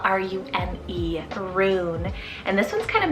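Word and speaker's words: Rune: then we have a roon it's called r-u-n-e roon and this one's kind of magical it's german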